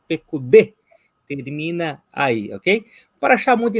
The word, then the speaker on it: Pekudê: Olha, presta atenção, porque tem um Yud no final dessa palavra, tá? Mas ela não é esse Yud não é pronunciado. Então não é Pekudei, e sim Pekudê.